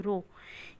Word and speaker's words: rho: Density, it is a Roman letter which is pronounced as rho, R-O, rho.